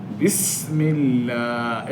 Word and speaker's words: بسم الله: ওখানে পাতলা হবে আল্লাহ শব্দের ডানে জের হলে ওখানে লামটা পাতলা হবে আল্লাহ শব্দের ডানে জের